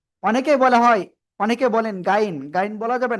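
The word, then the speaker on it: غين: য় ওকে অনেকে আইন বলতেছেন আইন নয় এটা গাইন গাইন মোটা আওয়াজে পড়তে হবে ওকে তো ইনশাআল্লাহ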